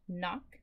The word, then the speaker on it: knock: I hope you noticed that silent letter in that knock word. The K is silent on the door.